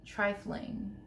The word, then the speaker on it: trifling: Trifling. My entire life I pronounced it trifling. No G, closer to a T at the end, but really whatever's at the after that N is silent.